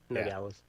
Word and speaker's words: Nogales: Nogales.